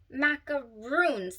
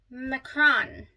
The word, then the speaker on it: macaron: It is not macaroons. There's not two O's. This is a French word, and it's macaron.